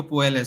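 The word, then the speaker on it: Puelles: think it's pronounced because Double L is pronounced J I think in Peru and South America but yeah Claudio poels so he's called The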